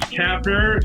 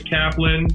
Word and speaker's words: Kapner: This is Kapner. Sarah, you did a great job to pronounce it correctly. Um, kudos to you. A lot of people say Kaplan, uh, if they have any experience with Jews.